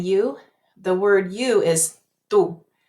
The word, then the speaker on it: tú: The word you is tú. Too many people say it like this, tú. See how my lips are moving? Ooh. No. In Spanish, it's just u. Bien. ¿Y tú? Tú. Not tú.